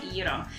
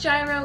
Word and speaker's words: gyro: try is having Greek gyro. It's not pronounced gyro, it's pronounced gyro.